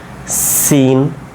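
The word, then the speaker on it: سين: দেখব এর পরবর্তীতে হ্যাঁ তারপরে দেখেন র ঝা সিন শিন সদ একটু দাঁড়ান এই জায়গাটা দেখেন তো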